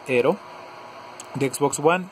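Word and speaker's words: Aaero: a llegar un juego se llama hero viene escrito como aero o algo así pero su pronunciación es hero de xbox van y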